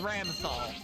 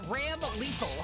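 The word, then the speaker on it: Ramlethal: Ramlthol. That's how you say her name. I can I can pronounce words. It's made up. Okay. It's a madeup name. You know, it's Ram Lethal. That That That's what her name is.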